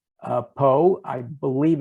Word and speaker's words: Pau: pyrenees in in a little town called uh poe i believe it's spelled pau and uh i thoroughly uh appreciated